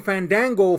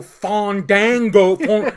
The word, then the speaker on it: Fandango: ] reason the commentators were obsessed with calling Fandango fond dango no I'm sorry Falun Gong on dongho yeah